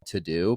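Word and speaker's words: Teux Deux: that started it it's an app called to-do but they spell it teux and then Deux the reason I've loved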